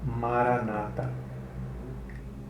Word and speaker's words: Maranata: para licitação nós repetimos a palavra com 4 sílabas separadas é interiormente e em silêncio e o cano nossa atenção som da palavra no nosso interior assim é Mara na mata a Maranata é um segredo